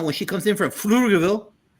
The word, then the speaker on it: Pflugerville: And I want the rest of the panel to coach Alma when she comes in from Pflugerville. The P is silent.